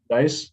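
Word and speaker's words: Deiss: And I guess one technical takeaway that's kind of related to that, I saw one of the speeches by Ryan Deese, I think it's pronounced. Dice.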